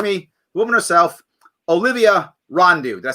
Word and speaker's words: Rondeau: The woman herself, Olivia Rondeau. Did I say it right? Rondeau.